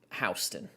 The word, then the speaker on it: Houston: There's a town in the state of Georgia that is spelled Houston, that is pronounced Houston.